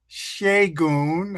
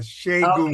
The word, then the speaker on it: Segun: It's Segun. I've been letting people get Okay. away because it's not in the American lexicon, but Okay. like shea butter, Segun. Okay. Shagun.